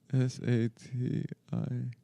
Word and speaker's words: satiety: How do you pronounce that word? s a t i e t y. S a t i e t y. I don't know that word. Sati school. Sati. Like satiated.